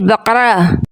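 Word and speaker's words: بقرة: فرق ہے۔ تو ناظرین، سورۃ بقرہ کا جو نام ہے نقطوں والے کاف کے ساتھ ہے، اس کو نقطوں والے کاف کے تلفظ کے ساتھ پڑھنا ہے، بقرہ، جس کا معنی ہے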